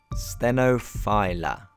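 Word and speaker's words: stenophylla: speak to the man himself how do you pronounce sinify little filler or stenophila it's coffee a stenophila there you go stenophila glad we got that one sorted it used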